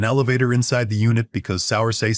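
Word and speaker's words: Saoirse: His wife's name is Sauersair, pronounced Sear-Sha, and she's been married to my son for, well, I'll get to that.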